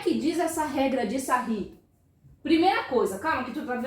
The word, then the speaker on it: Sarrus: Se escreve Sarrus, mas a gente pronuncia Sarri.